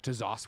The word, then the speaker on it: ZOS: talking about how y'all found your way to ZOS, which I love saying, by the way. I didn't know that was how we pronounce it.